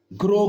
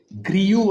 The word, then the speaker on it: grew: ಗ್ರೋ gross V1 places. V2 ಬಂದು ಗ್ರೂ GREW. ಗ್ರಿಯು ಅಲ್ಲ, ಅದು ಗ್ರೂ. ಉಚ್ಚಾರಣೆ ಇಂಪಾರ್ಟೆಂಟ್.